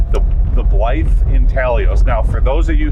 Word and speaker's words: intaglio: again int intalio intalio it has a g but the g is silent gotcha okay the g